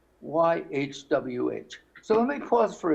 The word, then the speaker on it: YHWH: So YHWH is not Yahweh, which has two vowels in it, Ah and Eh. It's not Yehovah, which has three vowels in it. It's not. It's just YHWH.